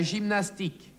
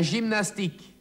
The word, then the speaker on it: gymnastique: La gymnastique. La gymnastique. Das G vor einem E, I oder Y wird stimmhaft ausgesprochen.